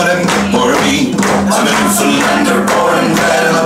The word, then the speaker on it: Newfoundland: I learned how to pronounce that properly, Newfoundland.